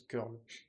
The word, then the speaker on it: curl: Maintenant, à quoi nous servir ce fameux curl ? Comme je l'ai ? Oui, ça se prononce curl.